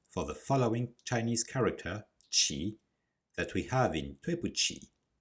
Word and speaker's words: 起: This is not the case for the following Chinese character, qi, that we have in 对不起, bu being the negation.